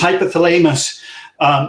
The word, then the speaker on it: hypothalamus: You say them in your head one way, but they're pronounced another way. Anyways, hypothalamus.